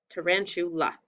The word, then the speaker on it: tarantula: And remember, after the chew, if there's an LA or an AL, sometimes it can have a schwa. Tarantula.